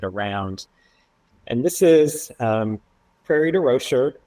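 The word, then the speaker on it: Prairie du Rocher: And this is um prairie de roer which is the Illinois pronunciation of this French name outside French Geneva you know and I um I grew up in St.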